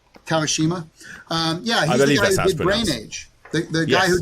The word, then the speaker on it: Kawashima: want to mess up kawashima how is this pronounced kawashima kawashima um yeah the guy who did the problems